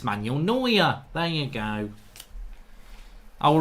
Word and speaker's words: Neuer: Neuer. Manuel Neuer, is that it? Get rid of it. Neuer. Neuer. Neuer. There you go. Manuel Neuer. You see? It's Manuel Neuer.